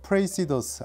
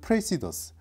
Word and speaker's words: Praesidus: 오늘 리뷰할 시계 프레이시더스 과연 그런 장점이 있는 시계일까요?이 이 프레이시더스는 정말 발음이 여러 가지예요. 프레이시더스 아니면 프레시더스, 프리사이더스 뭐 이름 자체가 쉽진 않습니다.